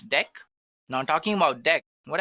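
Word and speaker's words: deque: So let's take a look at the next one that we have, which is actually dec, guys. It is written as DQ, but we can pronounce it as dec.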